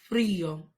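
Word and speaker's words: frío: Lord it's cold Frio hace Frio that I has an accent marked over it so you will emphasize this syllable by accentuating the syllable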